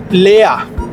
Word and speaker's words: leer: Número 3, Lea. El asistente dijo, ¿ist das Glas halb voll oder halb leer? Lea se escribe L-E-E-R, en español se leería leer, pero en alemán la